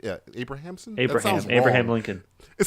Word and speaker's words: Abrahamson: Lenny I'm going to say his name wrong. It's Abrahamson. Is that correct? Yeah, Abrahamson.